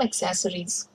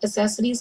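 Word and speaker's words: accessories: यू bye some एक्सेसरीज, ये एक word है जिसको हमेशा लोग एक्सेसरीज कहते हैं। The pronunciation is एक्सेसरीज।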